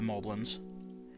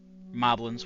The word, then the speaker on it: Moblin: We have ways of getting by the Moblins. Moblins, however you want to pronounce it.